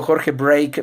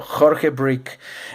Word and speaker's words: Jorge Brick: Siempre me equivoco y siempre le digo Jorge Break, pero se pronuncia su apellido Jorge Brick.